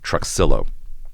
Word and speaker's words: Trujillo: And we have a proof of concept for that at Truxillo, which is how folks in third ward pronounce uh Trujillo, but Trxillo dead ends at homes to the trail.